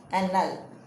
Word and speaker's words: Annales: How to pronounce Annales?